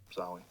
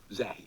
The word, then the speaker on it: Zahi: Zoe. Zahi. Oh, Zahi. Zahi. Zawi. Not Zoe.